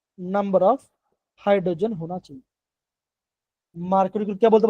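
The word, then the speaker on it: Markovnikov: Okay, तो बच्चों यहाँ पे एक आपका फैक्टर आता है जिसे हम बोलते हैं मार्कोनिको। क्या बोलते हैं, हम इसे बोलते हैं मार्क को निको।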